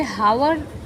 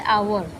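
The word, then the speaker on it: hour: यहां पे हावर हम लोग बोल सकते थे। लेकिन इसका जो एक्चुअल प्रोनाउंसिएशन है वो है आवर।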